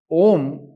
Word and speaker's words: ॐ: अक्षरों को साथ में तो संधि हो जाती है ए और यू बन जाता है ओ और बचा मा अब ओम जो हो गया यह हम लोग सामान्य उच्चारण में लेकर आता है यानी की जब हम लोग सामान्य उच्चारण करते हैं तो चरण बना तो इस तरह से ओ और मा का कोई मैन को जोड़ करके ओम बोला जाता है या ओम की